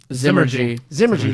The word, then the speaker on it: Zymurgy: Is it Zymergy? Zymurgy, there you go.